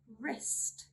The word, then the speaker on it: wrist: We do not pronounce the letter W when it comes before an R at the beginning of a word. Let's see some examples. Wrong, wrong. Wrist, wrist.